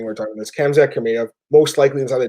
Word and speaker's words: Khamzat: He's like, first off, he said the guy's name wrong. It's Khamzat, right? And he called him Kazmat or something, and the guy's like, "I don't even know who that is."